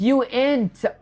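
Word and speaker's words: uint: You're still pronouncing it wrong. It's not unit. It's Oh, it's you int.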